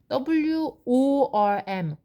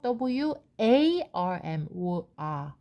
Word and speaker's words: warm: W-O-R-M, worm. 아니고 W-A-R-M, warm.